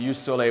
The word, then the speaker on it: jus soli: It's called jus soli. It's pronounced jus soli, which just means that wherever that child is